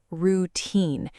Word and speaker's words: routine: Yes, it is pronounced routine. The stress is on the second part, teen.